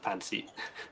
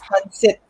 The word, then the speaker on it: pancit: Yeah, and so I have an issue with Pansy. What? So I don't really like it. And it's It's pancit. You gotta pronounce it for it's sorry, pancit, Pansy.